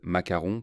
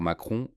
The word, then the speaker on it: Macron: Apprécieriez-vous qu'on dise macaron pour Macron ou le mode pour le monde ?